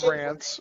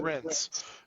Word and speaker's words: Reince: You said Rance. You said. Mhm. I said it correctly. I said it right. I said it Rince.